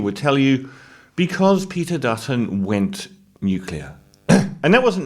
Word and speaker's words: Dutton: I love the fact that Dutton rhymes with button.